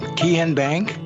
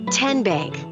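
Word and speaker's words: TN Bank: you enroll wildcats roll how do you say the name kian bank nope tin bank uh-uh so what is it 10 bank 10 as in tennessee right here where all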